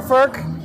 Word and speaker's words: Furch: Lots of cool stuff to hear, but we're here at Furch Guitars, and I'm here with Peter Furch.